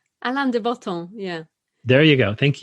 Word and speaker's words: Alain de Botton: How do you pronounce his name? Alain de Botton.